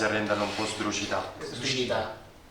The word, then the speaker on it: sdrucita: Sdrucita. Senza l'accento finale.